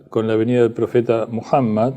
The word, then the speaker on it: Muhammad: la venida del profeta muhammad maoma conocido como maoma una deformación moma de mohammad en inglés y en francés Es más cerca la pronunciación Mohamed es más cercano a muhammad que lo que los